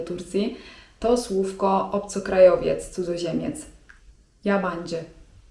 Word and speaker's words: yabancı: yabancı (czyt. jabandży) Jak usłyszycie to słówko w waszym otoczeniu to możecie być pewni, że towarzystwo rozmawia o was.